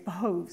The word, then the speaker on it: behoves: sometimes pronounce it wrong I think I heard the other day it's behoves and not the who so but it's important